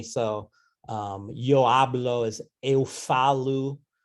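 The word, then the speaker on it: eu falo: um yo hablo is eu falu right that last vowel is not an o in portuguese but an oo um ayakome elekomi where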